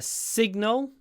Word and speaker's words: signal: So a signal. The stress is on the first syllable, signal. So you need to make the s long. Signal. It's not signal, it's sig.